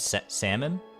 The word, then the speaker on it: salmon: shot is almond and salmon salmon yeah there's no there's I mean there is an elves in salmon but I would not pronounce it I would not say